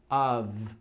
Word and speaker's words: of: Of, que tem a pronúncia um pouco de of, com som de V, of.